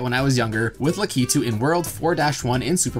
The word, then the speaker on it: Lakitu: favorite flying Koopas the lucky two's oh my god it's pronounced lakitu well actually I think it's kind of a mix of both however you want to pronounce it this guy's made his